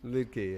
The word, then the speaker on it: Liedtke: How do you pronounce it? Liedtke? Liedtke, yeah. Yeah, but it's spelled crazy. L-I-D... Lied. Yeah. That was Brian saying, it's just Lied TKE.